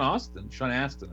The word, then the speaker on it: Astin: Sean Astin, I guess is how you actually pronounce his name. Yeah, there's no U in that last name.